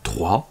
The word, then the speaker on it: Troyes: invitent à découvrir l'histoire de la ville de troyes et là je le prononce à la française au cours du moyen